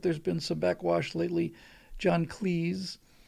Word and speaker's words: John Cleese: John Cleese, you better pronounce it to rhyme with sneeze or he'll reprimand you,